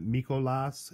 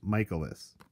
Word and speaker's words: Michaelis: we'll see Myles Michaelis everyone pronounces it Michael loss and that's not correct man it's miles Michaelis listen to the damn